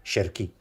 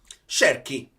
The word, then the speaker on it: Cherki: Ah, vale, comunque mi sono informato che la pronuncia è Ryan Cherki. Cherki.